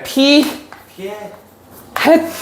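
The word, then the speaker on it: p̂: 읽을 때는 P 햇이라고 읽어요. 뭐라고 읽는다고? P 햇 이렇게 되는 거야.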